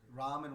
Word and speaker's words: Rama: 16 words slow down ram and ram are both okay there that has been uh you can pronounce it in one or two it is technically rama two syllables but yes in the